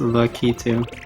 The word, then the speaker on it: Lakitu: Lakitu. It's pronounced Lucky too. It's Japanese.